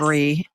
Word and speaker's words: Bree: Bree, like brie cheese.